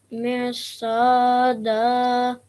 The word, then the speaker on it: مرصادا: Inna jahannama kanat mirsada. Very good. Saw again is a thick letter, so just make a round mouth when you say that.